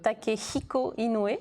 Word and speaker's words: Takehiko Inoue: Le H, il faut l'aspirer. C'est un peu comme en anglais. Donc, qu'est-ce qu'on a comme exemple? Takehiko Inoue, voilà. On aspire le H.